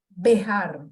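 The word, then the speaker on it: Béjar: El autor no lo he dicho, se llama Héctor Bejar, acento en la E.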